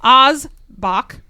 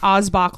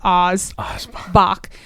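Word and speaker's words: Aass Bock: how I got it Oz Bach not Oz boach like the Brandy but Oz Bach Great Lakes Rockefeller Bach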